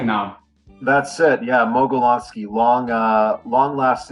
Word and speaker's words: Mogelonsky: little stammer when it comes to your name Meloni did I pronounce right now that's it yeah molony long uh long last name of Russian descent